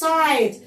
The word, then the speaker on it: site: يعني في موقع البناء building site. مين شاطر يقول لي احنا ليه قلنا الاي دي اي؟ عشان اخرها اي. برافو. والاي بتضرب الحرف الفاول على دماغه وبتفكره يقول اسمه على طول، فالاي بتتنطق اي.